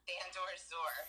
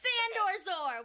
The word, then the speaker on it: Sandor-Zur: So, how do you say that again? Sandor-Zur. Sandor-Zur.